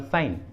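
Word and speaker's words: sign: For example साइन, साइन, इस English word में एन के पहले जी आया है, जी एन के पहले आया है तो जी को प्रोनाउंस नहीं करेंगे, इसलिए सही उच्चारण होगा साइन, साइन।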